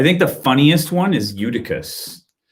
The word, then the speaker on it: Eutychus: the funniest one is eutychus because it rhymes with uterus and i think that's